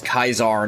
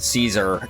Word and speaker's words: Caesar: for that matter like how it's Kaisar not Caesar in the old way of saying it similar actual Kaisar